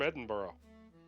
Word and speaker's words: Edinburgh: She said she was from Edinburgh. Yeah. They It's kind of look pronounced to each Edinburgh.